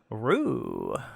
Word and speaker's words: Ryu: of course we have uh roo hey guys what's up thanks for having me on but spelled like ryu so i have a